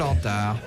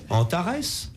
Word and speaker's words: Antar: Non, non, il y avait une bonne raison pour que ça s'appelle Antar. Antares?